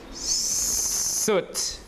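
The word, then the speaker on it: soot: short this horseshoe thing how do you pronounce it suit right suit right suit right suit the English word is s o o t what does it mean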